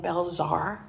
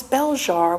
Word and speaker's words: Belzhar: Tell me about the pronunciation of your book. Well, a lot of people have been saying Belzhar, but okay. I answer to that too, you know. But it's Belzhar, which is kind of a play on the